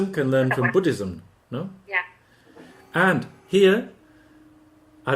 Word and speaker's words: Buddhism: Buddhism. Edward, how do you pronounce Buddhism. Buddhism? Where's the stress? Bu. Why? Because it's a noun.